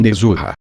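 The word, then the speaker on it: Nezha: Em japonês, eu supus que se pronunciava Nezuha, esse devia ser seu nome.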